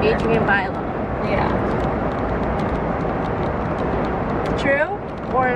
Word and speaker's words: Adrienne Bailon: Or Bailey. How do you say her name? Bailone. Whatever. Adrienne Bailone.